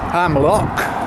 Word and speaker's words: Amlwch: and I'm just making my way out of hamlock now I've learned how to pronounce it and uh it's gonna be a